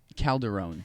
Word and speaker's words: Calderon: but I feel like not saying my last name wrong how do you say your last name Calderone that's uh the Calderon no that doesn't make